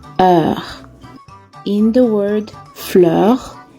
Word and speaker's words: fleur: ah in the word fleur there is the sound er f l e u r makes fleur our next sound is